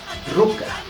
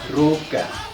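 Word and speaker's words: ruka: que ruca que está la escritura con k y la pronunciación ustedes lo van a relacionar mucho más Con la c Así es que está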